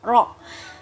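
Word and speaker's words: ر: Jadi pengucapan huruf ro itu tidak seperti RR biasa yang kita biasa ucapkan di Indonesia, tapi dia agak menempel dengan rahang atas dan lidahnya membentuk seperti mangkok, maka tidak terbaca R tapi ro.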